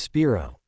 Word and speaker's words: Spiro: You pronounce Spiro as Spiro.